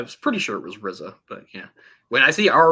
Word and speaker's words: RZA: RZA, yeah. RZA. Okay. I was pretty sure it was RZA, but yeah.